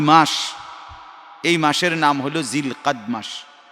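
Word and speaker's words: ذو القعدة: এই মাসের নাম হলো জিলকাদ মাস। আরবি শব্দ হলো জুল কাদা, তা আমাদের বাংলা ভাষার উচ্চারণের কারণে এটাকে আমরা জিলকদ মাস বলি।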